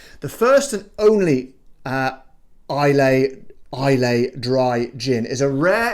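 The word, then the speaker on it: Islay: Isle of I love I want to say I'll a is spelt with an S like like island by presume it's a silent si apology if I'm getting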